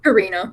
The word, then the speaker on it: Carina: Karina.